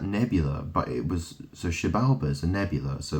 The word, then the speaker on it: Xibalba: But it's pronounced Xibalba.